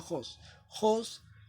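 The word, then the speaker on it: ὅς: Jobs que seas así se escribe en en griego pero se pronuncia Host fue manifestado en carne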